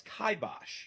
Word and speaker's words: kibosh: Just like this word, which many people pronounce as kibosh or kibosh, but is correctly pronounced as kibosh.